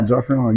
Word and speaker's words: Joffrion: Joffrion. Did I pronounce that right? You, girl, Hey, yes. I'm on it. I got it. Yeah. Joffrion, you got it.